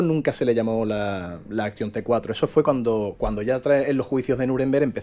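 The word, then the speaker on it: Aktion: Exactamente, Action, sí. digo, pronuncio así arrastrando un poco porque era con K.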